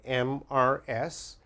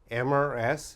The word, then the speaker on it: Mrs.: The first one, MRS. MRS is pronounced Mrs., Mrs., and Mrs.